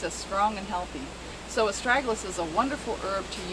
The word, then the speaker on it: Astragalus: It's called Astragalus, and that's spelled A-S-T-R-A-G-U-L-U-S, Astragalus.